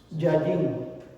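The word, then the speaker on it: יין: Yayin. Yayin se escribe con dos yud y una nun.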